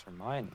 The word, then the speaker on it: Hermione: you don't pronounce them oh no exactly like hermione's name and harry potter oh true it's like you read it it's like how do you pronounce it it's it's hermione yeah he's just a hair remember i think